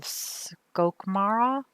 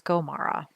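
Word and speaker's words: Skomara: I think I said skoke, so I added a C in there. So it's Scomara.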